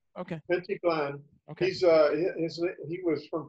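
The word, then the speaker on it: Pentti Glan: And if it's not Schwartzberg, it's Pentiglan. And how do you pronounce his name correctly from a close friend of his? I never. No, that's exactly right. Pentiglan.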